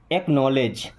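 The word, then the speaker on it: acknowledge: तो एक्नॉलेज यहाँ पे डी साइलेंट है, ओके।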